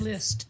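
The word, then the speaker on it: Liszt: But people like Litz, LiT, is that how you pronounce list?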